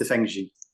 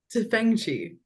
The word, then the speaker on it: Tefenkgi: Is that how you pronounce it, Alex? It's Tefenkgi. Tefenkgi.